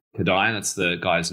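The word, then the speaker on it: Kodály: those listening if you're not familiar with kada it's spelled k o d a l y kada That's the guy's name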